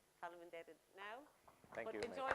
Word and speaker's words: Faleminderit: Faleminderit. Okay, so I want to say, for me, Faleminderit, because I'm now going to pass back over to Gustavo, but you've been a fantastic group.